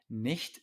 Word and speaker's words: nicht: Nicht schlecht. Ven que una CH después de una I o E, después de una E, se pronuncia muy suave.